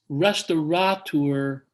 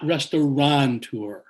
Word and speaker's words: restaurateur: am okay he said then it's restaurateur not restauranteur i had been mispronouncing